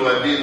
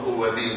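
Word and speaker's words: ouabain: اسمه وبين اسمه وابين في ناس بينطقوا اوابين قل وابين ولا تقل اوابين فاهم ازاي اهو البين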